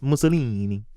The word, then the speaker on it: Mussolini: thank God we weren't bro I will sing Mussolini it's actually pronounced Mussolini yeah to me was the goofiest fascist yeah